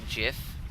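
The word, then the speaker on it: GIF: the challengers I'm just imager endured whatever it's pronounced jiff yes it is actually you're correct no well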